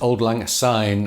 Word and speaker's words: Auld Lang Syne: then he says he knowing certain terms it's pronounced Old Lang sign and not Z as many an ignorant Englishman